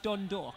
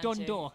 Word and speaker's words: Dundalk: You have to say Oriel Park, Dundalk, right? You have to say Dundalk. Listen to this guy. You can tell he's from around here. Say Dundalk. Dundalk.